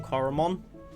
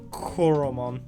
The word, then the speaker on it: Choromon: But for now, I'm going to go on the assumption that it is pronounced like Choromon, like chlorine, Choromon kind of thing.